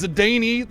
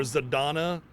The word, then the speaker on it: Zidane: what Kane Z on it's zidany thank you very much I refuse to call Z or zadon or whatever the that was so so I guess we could still call timia timia instead of timisha but zidon like what's the what's the a there for or the E rather if it's not at least zidane you know and we're